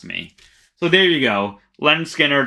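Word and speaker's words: Lynyrd Skynyrd: so there you go len skinner pronounced leonard skynyrd as my number 10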